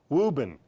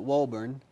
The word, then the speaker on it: Woburn: try and say your hometown the correct way Reuben that is correct Massachusetts now what are what